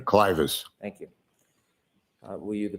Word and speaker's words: clivus: Am I pronouncing that correctly? Clivus.